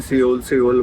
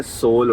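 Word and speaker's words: Seoul: सियोल नहीं बोलते पूरे ब्लॉग में, मैंने सियोल बोला हुआ है, सोल होता है इसका नाम।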